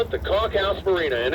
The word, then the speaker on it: Conch House Marina: It is the Conch House Marina. I've heard conch, I've heard all kinds of things. But they call it the Conch House Marina, and it's a local favorite here in St.